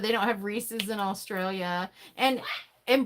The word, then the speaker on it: Reese's: I'm sorry about that some people over there pronounce it Reese's and some people call it Rees re so can we phonetically spell that I say Rees it's like like it's like it belongs to Reese so it's Reese's